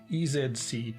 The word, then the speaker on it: EZC: it certainly is however that letter is pronounced zed everywhere in the world outside the usa so this is the